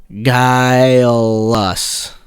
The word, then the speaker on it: guileless: goblins guild but then according to google it's pronounced guy loss guy lost okay there's a tricky one that is a trick yeah that's a tricky one i'm like there's no way that we're short but kyle guyless and uh what's uh there's a [ __